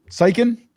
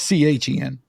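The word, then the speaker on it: Steichen: again their coach um how do you sp spell styen styken it's like a k yeah I thought it's Cen yeah but it's like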